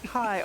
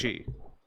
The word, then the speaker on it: chi: It is Kai. Okay, it is a Greek letter. Okay. Oh. Yeah, but they have to pronounce it Weebish, so it's chi.